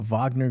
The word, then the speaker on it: Wagner: concerns of the presence of the Wagner group sorry a Vagner group as they pronounce it but he also